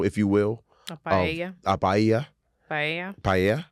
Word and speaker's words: paella: Paella. That's how you say it.